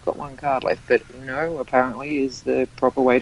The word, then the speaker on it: Uno: I've got one card left, but Uno apparently is the proper way to pronounce it, and such things.